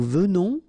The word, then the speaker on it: venons: Okay, O-N in your nose, on.